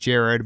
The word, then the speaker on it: Jerrod: by Brian Garrity yes I know it's pronounced Jared but it's spelled like Jerrod if you wanted to